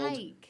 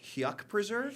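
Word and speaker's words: Huyck Preserve: called the Hike Preserve. And I know it's spelled hike. Hyuk Preserve. That's what I thought it was. Hike. I always called it the Huck Preserve or the Hyuk Preserve.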